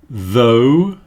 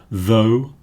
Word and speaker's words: though: The next group are pronounced O. This diphthong symbol here is pronounced O. Though, although.